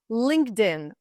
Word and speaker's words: LinkedIn: the thing is that Ed ending is not pronounced like ID after K right linked linked it pronounced just like one letter T linked link Ed D linked and in LinkedIn Linked In you connect